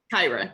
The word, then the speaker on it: Kyra: Do you say Kyra? Kyra, yes. Kyra, okay. Yes, Hi, I always say Tyra with a K, right?